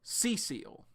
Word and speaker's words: Cecile: It's actually Cecile. So yeah, Cecile. We all just say Cecile though. So Cecile is how her name is pronounced, like Cecil.